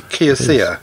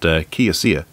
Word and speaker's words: Kioxia: Do you want to have a go at pronouncing Kioxia. This? Or it could we'll be Kioxia, because Xiaomi is CIA, so it could be Kioxia. Kioxia.